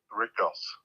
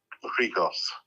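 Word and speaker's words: Rhigos: would always pronounce it, the other one, Rikos. But I know other people call it Rigos.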